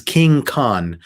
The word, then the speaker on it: King Khan: more into it and it is king khan so kind of like king kong but with no g at the end of khan but they spell it